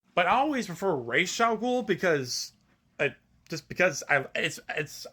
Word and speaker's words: Ra's al Ghul: Though there are some others, there are some people that would say Ra's al Ghul, which is actually, that's how it's originally pronounced. It's pronounced Ra's al Ghul.